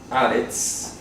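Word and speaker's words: הארץ: Resulta que la palabra haaretz en hebreo, haaretz, se pronuncia haaretz, significa literalmente la tierra.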